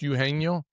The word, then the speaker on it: Eugenio: Is it pronounced Eugenio? Yes, because a G it gets a HE sound.